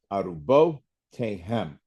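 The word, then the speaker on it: אֲרֻבֹּתֵיהֶם: And those are two accents on that last word, arubotehem. Accent on the bow and the hem.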